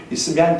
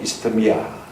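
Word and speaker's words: 이스트미아: 이게 이스미안 경기, 지금은 이스미안이라면 아이들이 못 알아들어요. 한번 따라합시다. 이스터미아. 발음 그대로 하거든요.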